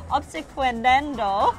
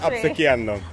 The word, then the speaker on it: obsequiando: Obsequendendo. No, I said that all wrong. Okay, please correct me. It's obsequiando. Okay, yeah, thank you.